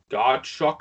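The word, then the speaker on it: Godchaux: Yeah, the good D tackle from the Dolphins, who I always mispronounce his last name, man, but Devon Godchuck, I guess is how you say that.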